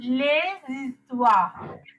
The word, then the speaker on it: les histoires: vowel එකකින් නම් හරි h එකකින් නම් හරි වචනේ පටන් ගන්නෙ you are pronouncing the s of the article.